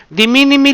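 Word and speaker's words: de minimis: De minimi lang po, silent S po, de minimi value.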